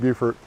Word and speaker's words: Beaufort: say it's beautiful buffer even though nobody knows why we pronounce it beaufort up here on the